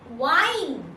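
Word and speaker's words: whine: ঘ্যান ঘ্যান করো না, ডোন্ট ওয়াইন। এখানে কিন্তু ডাব্লিউর পরে এইচটা সাইলেন্ট আছে, এটা খেয়াল রেখো।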